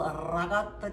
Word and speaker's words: ricotta: And today I woke up feeling quite Italian, so I decided to make some spinach ravioli today, stuffed with real ricotta cheese.